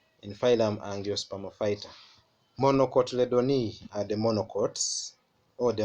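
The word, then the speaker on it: Monocotyledonae: in this fighter grass monocotyledon e let's pronounce together grass monocotyledon e and then the other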